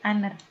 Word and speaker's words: honor: Jadi ini bacanya adalah bukan honor tapi honor.